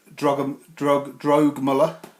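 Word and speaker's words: Drögemüller: Drogemuller, I think is actually pronounced, the other designer.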